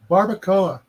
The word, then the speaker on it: barbacoa: is correct was it Barbacoa it's the Cuban pronunciation of barbecue oh barbecue actually came